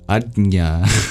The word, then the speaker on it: Ajna: We've been reading about the third eye chakra, known in Sanskrit as the almost impronounceable Ajna.